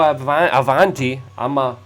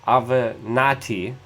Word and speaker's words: Avenatti: And also Michael Avanti, Michael Avenatti. There we go. Now I remembered how to pronounce his name.